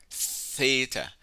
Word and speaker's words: theta: dotted line okay eita theta theta is pronounced using two English letters T and H theta so this is your second